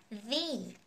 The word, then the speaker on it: the: there for me in the end. Hết. Và chỗ này nhớ đọc với âm y dài như các bạn, đọc là the nhá, bởi vì end bắt đầu bằng một nguyên âm ha.